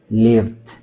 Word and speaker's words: lived: En español la palabra set, yo tengo mucha set, podría servirnos de base en la ubicación de la lengua. No tengo mucha set. lived said lived para que tenga una referencia, ¿no?